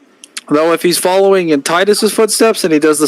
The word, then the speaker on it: Titus: make sure with you it is pronounced Titus right it's not tetus it's not ttus no this is TI